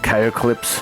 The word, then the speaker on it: Chaoclypse: Um, I've also uh watched quite a bit of videos from a guy called Chaoclypse (pronounced "chow-clips").